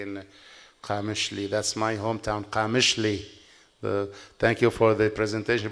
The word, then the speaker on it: Qamishli: That's my hometown, Qamishli. Thank you for the presentation, but the city was not pronounced correct.